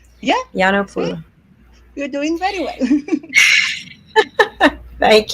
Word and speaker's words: Giannopoulou: How do you pronounce it? You did very well, believe me, for a first timer. It's Giannopoulou. Giannopoulou. It's a beautiful name. Yeah. Giannopoulou.